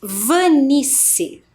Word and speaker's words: Vanice: tem olha só professora Vanice quando nós fazemos a pronúncia do Vanice impressão que é com c não é mesmo mas o meu nome tem dois s e esse é o